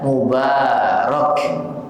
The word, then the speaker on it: mubarak: masyaallah mabruk ya mabruk maka cara pengucapan yang tepat jika kita ingin mendoakan keberkahan adalah ucapannya mubarak muba mubarak sebagaimana ini disebutkan juga oleh